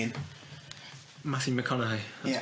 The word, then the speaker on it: McConaughey: It's got Matthew Mahogany in. Matthew McConaughey, that's pronounced.